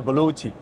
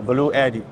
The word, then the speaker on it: BLUETTI: well sure uh actually in China we used to call it a baluti okay but in Western pronunciation way uh the people one day see b-l-u-e-t-g-i they used to speak a blue Eddy it sounds very Italian